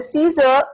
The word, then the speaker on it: scissor: In the scissor, In the scissor, the C sound is silent.